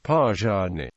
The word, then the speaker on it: Palani: Palani is pronounced using the retroflex approximate R and is thus also spelt using the ZH digraph as Pajani.